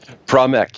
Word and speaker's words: Powell: Powell, is that, did I say it correctly? Powell, yes. Powell.